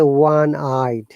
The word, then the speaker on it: one-eyed: b k c d we use a so one i is a wah sound so i saw one